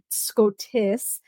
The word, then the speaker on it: Skotos: And Priestess Analea first tries to, obviously correct Poppy with how to say Skotos. And she's like, Scotis.